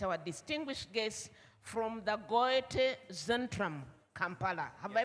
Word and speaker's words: Goethe: The Goethe Zentrum, this OE is pronounced like an Ö. Goethe Zentrum.